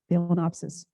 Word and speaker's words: phalaenopsis: orchid um these are phalaenopsis p h a l a e n o p s i s philanopsis but when you pronounce it the first part you say fail f-a-i-l and what you do